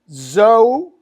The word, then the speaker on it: Zoe: And it's spelled Zoe, like Joe, like my dad's name, Joe.